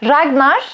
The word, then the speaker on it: Ragnar: Ama Ragnar, R aslında ben en azından telaffuz ederken R uzatarak o R'yi söylüyorum.